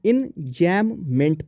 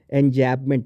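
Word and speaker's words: enjambment: इंजैममेंट पढ़ते हैं इसको, इन और जैम जो आप लगा के खाते हैं ब्रेड पे वो, और फिर मेंट, ठीक है। एंजैबमेंट नहीं पढ़ते हैं प्लीज़।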